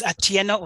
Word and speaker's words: Atieno: I'll start with Atino. Did I pronounce it correctly? Your first name, last name, and what gives your organization, what gives you hope? All right, my name is Atieno.